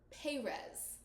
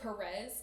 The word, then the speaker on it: Perez: their principal's name is pronounced in the audio B is pz rather than Perez pretty sure it should be Perez it drove me mad every time the narrator pronounced this principal's name and then anytime the characters had to say it I was just like Perez p e r EZ I mean like it